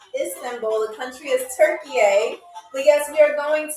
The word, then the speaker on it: Türkiye: to my attention, but it is not pronounced Turkey. I've been saying Turkey all my life. It is pronounced Türkiye.